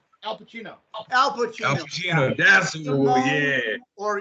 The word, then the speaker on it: S1m0ne: That's Simone, yeah. Or you can also pronounce it Sim1 because it's written S1M0NE because it's about code.